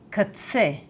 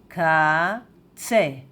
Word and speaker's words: קָצֶה: And edge in Hebrew is katse, katse, katse, katse, katse.